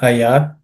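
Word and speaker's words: भयात्: The bhayat in the first word, the first letter is aspirated. Bhayat. Okay, bha.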